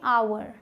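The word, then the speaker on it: hour: मतलब होता है घंटा यहां हा साइलेंट होता है इसे आप पढ़ने हैं अवर अवर ठीक है अवर जल्दी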